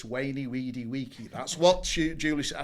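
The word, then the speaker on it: veni, vidi, vici: No, it's not vainy vidy vichi. It's wayy weedy waky.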